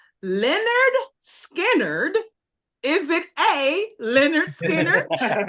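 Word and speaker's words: Lynyrd Skynyrd: southern rock band is known for the album pronounced Leonard skinnard is it a Leonard skinnard b b the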